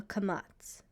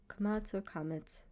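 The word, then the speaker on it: קמץ: This vowel is called a kamatz, or kamats, doesn't matter.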